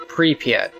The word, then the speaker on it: Pripyat: This town called Pripyat, some weird Russian name. How do you spell it? P-R-Y-P-I-A-T. It's Russian. P-I-A-T. P-R-Y-P-I-A-T. P-R-Y-P-I-A-T. Pripyat. Anyways, Pripyat.